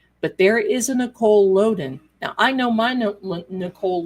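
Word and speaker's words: Lodan: Nicole Loen. It's it's pronounced Loen.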